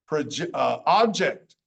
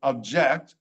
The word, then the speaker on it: object: hijack, injure, major, majority, object or object. Object is a noun. Object is a verb.